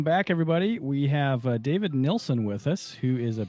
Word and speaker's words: Nilsen: joining us um and we're pronouncing the right Nelson right yes that's correct yeah kind of an unusual spelling but pretty normal pronunciation have you googled your